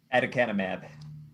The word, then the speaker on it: aducanumab: Michael can pronounce it. Aducanumab.